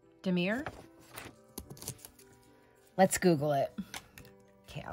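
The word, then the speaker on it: damier: box told me that it is a it's pronounced Demir it's French and it means checkerboard and so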